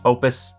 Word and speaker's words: Oupes: It's pronounced Opus, but you can't make a name like this and not have everybody calling it Oupes, so we're calling it Oupes.